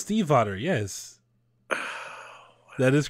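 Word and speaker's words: Stiefvater: pronounced Steve Otter. It's pronounced Steve Otter.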